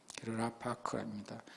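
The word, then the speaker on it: רָפַק: 한글로는 라파크라고 읽습니다. 히브리어는 오른쪽에서 왼쪽으로 읽습니다. 라파크입니다.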